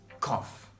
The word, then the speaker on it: cough: The two letters G and H are pronounced with F sound.